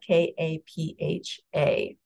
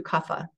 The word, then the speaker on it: kapha: Dosha is kapha and it's pronounced or it's pronounced kapha it's spelled k-a-p-h-a so kapha is going to have the qualities